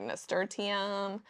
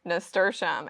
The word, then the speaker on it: nasturtium: A flower like nasturtium, I used to butcher the pronunciation of that flower and say like nasturtium and just stupid stuff like that. But I've learned it's nasturtium, and nasturtium is a great trap crop for aphids.